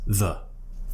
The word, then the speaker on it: the: we pronounce it as the again th and then schwa so this is tricky get your tongue between your teeth and then just open your mouth and relax your tongue push your back slightly